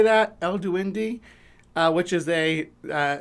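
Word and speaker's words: El Duende: So, we got El Dwey uh Duindi, I think is how you say that. El Duindi, uh which is a uh Central and South American uh sort of sprite figure.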